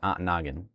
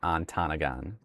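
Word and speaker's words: Antigo: The correct pronunciation is antagen. The pronunciation in chat here that was just typed is incorrect. It is not antanagon. That is that is so incorrect.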